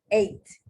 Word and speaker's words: ate: Past tense, ate. Just take that A, EAT, past tense, ATE. And it's pronounced the same as the letter, as the number 8.